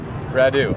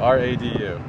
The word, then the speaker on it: Radu: Toronto this is how do you say that Radu R A duu Radu I was born in